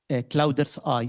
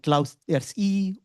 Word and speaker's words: CloudEARTHi: people they are is clouders eye. So they pronounce it like cloud earth e or cloud earth.